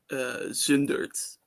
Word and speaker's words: Zundert: Is that how would you pronounce that? Zundert, Noord-Brabant, Nederland.